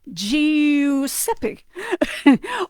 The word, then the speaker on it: Giuseppe: And if you do GI, it's G, like Giuseppe or Giovanni. So that's why the I is always there.